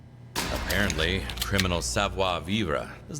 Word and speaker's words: sauna: There's actually a more proper way to say it, but SA is the closest you're probably going to get. Probably the closest I'm going to get to it.